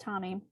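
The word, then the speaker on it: Tomie: I thought his name was pronounced Tommy. It's pronounced Tommy. Learned that today.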